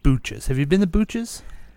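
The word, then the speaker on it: Booches: like Butch's but pronounced Booch's?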